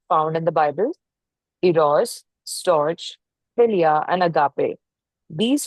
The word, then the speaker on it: storge: Pronounced storge.